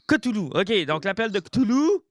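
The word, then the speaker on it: Cthulhu: stulu ou Toulou Koulou on prononce kitari non c'est non honnêement tu l' pas eu une fois c'est c'est vraiment cotoulou cotoulou ok donc l'appel de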